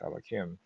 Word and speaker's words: Elohim: In this verse, the second divine name is written Yud-Kei Vav-Kei, but pronounced as Elohim.